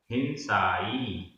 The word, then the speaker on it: हिंसाई: हिंसाई, हिंसाई, यहाँ पर ई बड़ी है। हिंसाई।